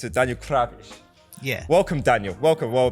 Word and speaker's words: Krawisz: Is that the correct pronunciation of your surname, Daniel? I think that if we were in Poland, it should be Krawisz. But that is you pronounced it the way that I pronounce it.